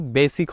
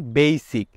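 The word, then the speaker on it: basic: বেসিক প্রথমেই ভুল, আমরা কিন্তু বেসিক বলে থাকি, বাট এটা কিন্তু বেসিক হবে না, it will be বেসিক। বেসিক। সো আসসালামু আলাইকুম everyone, this is me Rafiqul Islam from solve English.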